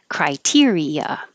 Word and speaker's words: criteria: Criteria. Criteria. The E and the A are not heard separately. It just sounds like eh.